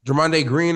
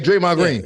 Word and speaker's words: Draymond Green: Jermonde Green, or how you say his name? The green guy that plays for the Golden State? Draymond Draymond Green.